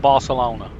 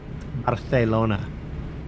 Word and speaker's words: Barcelona: an A S sound it would be more of a soft th sound Barcelona Barcelona okay Manuel see